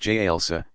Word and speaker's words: jalsa: ho sitting on the heels jalsa pronounced j elsa stretching forward toward prostration